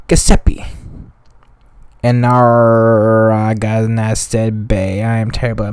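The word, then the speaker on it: Narragansett: british revenue ship gusset and our i got nasta bay i am terrible at my pronunciation n a r r a g a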